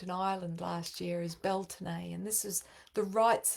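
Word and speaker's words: Beltane: deception born of Illusion hence the Distortion of belan correct pronunciation I learned in Island last year is belon and this is the rights of spring which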